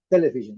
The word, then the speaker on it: television: Television. Desculpe aqui, a pronúncia, a sílaba forte é a primeira. Eu marquei em amarelo aqui. Television. Não television. Television.